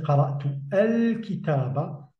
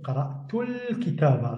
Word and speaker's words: قرأت الكتاب: Donc, je n'ai pas prononcé qara'tu al-kitaba, mais directement qara'tul kitaba, sans prononcer le alif de l'article défini.